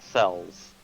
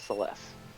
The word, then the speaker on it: Celeste: Because, like, as a kid, I usually said, Cells. But Oof. nope, apparently proper pronunciation is Celeste.